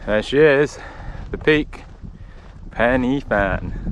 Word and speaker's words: Pen y Fan: Penny Fan, not Pen Fan like Brett keeps saying.